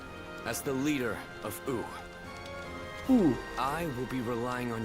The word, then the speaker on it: Wu: So I always said Wu, but they say ooh, like the W is silent.